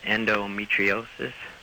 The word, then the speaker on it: endometriosis: my girlfriend has endro I'm not going to say this right endometriosis yep you said it right um she's had it